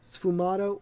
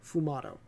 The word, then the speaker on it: sfumato: It was a technique called, depending on how you want to pronounce it, sfumato or fumato, which means smoke in Italian.